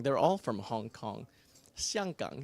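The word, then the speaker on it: 香港: Xianggang is how you say it in Mandarin.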